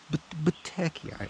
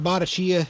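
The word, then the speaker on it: Bottecchia: Battecchia. Say it with me. This is how you say in Italia. Battecchia. Battecchia. It's not Botticcia, it's Battecchia.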